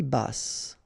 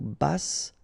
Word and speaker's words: basse: À taille basse, okay, so basse, final E not pronounced, but then you pronounce the double S, so S, basse.